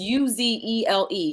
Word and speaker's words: Uzele: It's Uzele.